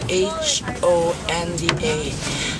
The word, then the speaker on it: Honda: Then later it became Honda, but it is spelled that as H-O-N-D-A. But of course for us Filipinos, we read H, so it became Honda. So there is no Suzuki Bay and there's no Kawasaki Bay.